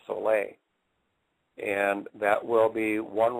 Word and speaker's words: Sole: make a product called Soleil. It's spelled S-O-L-E, but pronounced S-O-L-A-Y, Soleil.